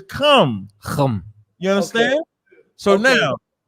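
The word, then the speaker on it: חם: Don't use the Abraham, because Ham in Hebrew is come.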